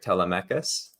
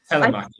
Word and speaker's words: Telemachus: It was, if I'm pronouncing this right, Telemachus. Tom, am I pronouncing that right? It's Greek. Telemachus. So. Telemachus.